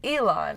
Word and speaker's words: Elon: Ellen's name correctly because May refers to her son as Elon and I have heard a couple of people purr Ilan's name differently sort of saying like Ellen Alon not Ellen like you